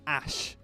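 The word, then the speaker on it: Æ: so X and then the a E is a sh it's pronounced ash in I think Latin or something something like that and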